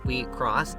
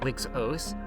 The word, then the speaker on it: WIXOSS: Enter the world of WIXOSS, pronounced WIXOSS, not WIXOSS.